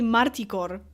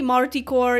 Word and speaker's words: Marticore: I guess yeah I I used to say marticore as as my name I I feel like I might be a little bit just a tiny bit inconsistent with the pronunciation of my own name uh but you can say Marty core you can say Mar core you can say well